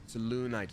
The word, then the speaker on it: Selûnite: Selûnite. Now we know how to pronounce that.